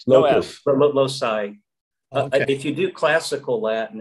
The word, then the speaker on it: loci: about locust locus loci yes did i just pronounce that is it losis no not low side loci if you do classical latin it's lochi so i when i studied latin you know